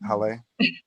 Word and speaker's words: Haleh: I am pronouncing that right, HALEH.